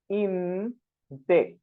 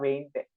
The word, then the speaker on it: veinte: Be-in-te. As I told you, this V is especially spelled as be, ube. So they prefer to say it as be-in-te, not veinte. Be-in-te.